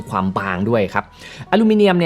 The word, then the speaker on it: อลูมิเนียม: คือ ตัว เครื่อง เนี่ย เป็น อลูมิเนียม นะ หรือ ว่า ถ้า เกิด ออก เสียง แบบ ฝรั่ง หน่อย อาจ จะ อลูมิเนม นะ คือ อลูมิเนียม อันเนี้ย